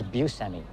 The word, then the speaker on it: Buscemi: And in fact, growing up, it was Buscemi. You know, that's how my dad pronounced it.